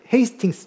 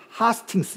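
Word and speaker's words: Hastings: 큰 방향이 바뀌게 되는 헤이스팅스 전수 그 사람들이 좀 하스팅스 이렇게 해도 발음을 하는데요 헤이스팅스라는 이쪽 지역의 풍경인데요이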